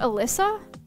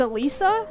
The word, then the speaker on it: Alisa: It's not Alyssa. It's Alisa.